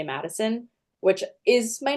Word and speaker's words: Maddisun: about it and I just say that it's Madison and like a lot of people just pronounce it like that and I I kind